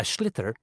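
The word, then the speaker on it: sliotar: this ball called a schlitter that's t s-l-i-o-t-a r so it's not spelt the way it's pronounced you hit it into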